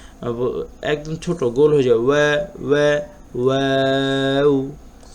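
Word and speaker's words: و: এই অক্ষরটার ব্যাপারে একটু বলে রাখি, আমরা পেশ এবং ওয়াও এই দুইটা অক্ষর উচ্চারণ করার সময় আমাদের ঠোঁট একদম গোল হয়ে যাবে, প্রায় মাছের ঠোঁটের মতো। উদাহরণটা একদম ছোট গোল হয়ে যাবে। ওয়া ওয়া ওয়াও হা হামজা ইয়া ইয়া।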